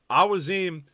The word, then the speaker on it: Awaziem: So to my ear, it feels more correct when I've heard him say it to just say Awaziem. So the Post Cincy is going to officially declare his pronunciation to be Awaziem. That's how we're going to say it. That's how I have now said it in my mind.